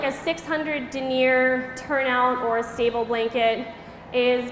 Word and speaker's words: denier: And if you’ve never heard the word pronounced, you might think it’s denier, but it is actually called denier and it’s actually a unit of weight.